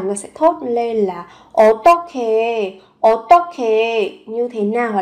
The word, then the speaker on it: 어떻게: Âm h và âm k kết hợp với nhau được đọc nối lên thành âm khờ 어떻게, như thế nào?